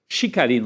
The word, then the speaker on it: Chicarino: da fala da professora, da cientista política Tatiana Chicarino, né, que é a pronúncia correta, né?